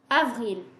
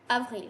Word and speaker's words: avril: Alright, now April in French is avril. April, avril. So do you see the difference here? Like it's pretty much the same, but only like in English it's P and in French it's V.